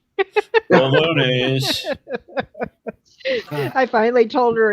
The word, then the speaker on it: bolognese: It was bolognese, and she kept calling it bologna. Bolognese. I finally told her it's pronounced bolognese, and she said, "Oh."